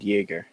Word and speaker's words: Yeager: It's Cade Yeager.